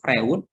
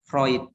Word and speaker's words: Freud: akan calon Pandu di nanti jangan salah ya bukannya bukan Sigmund Freud Tapi bacanya Sigmund Roid Ia memang tidak kayak gitu bacanya tidak dibaca sesuai tulisannya ya Nah menurut Sigmund Freud